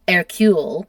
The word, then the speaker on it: Hercule: And then they had another baby, which is pronounced Hercule, which is a fine name, except if you say it in English, Hercule is Hercules.